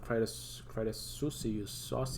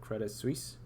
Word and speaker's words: Credit Suisse: crisis that happened not too long ago with Credit Suisse, however you pronounce it, Credit Suisse, yeah, there.